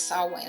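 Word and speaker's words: Samhain: Saw Wayne and you you pronounce this saw Wayne. I know it looks different than that.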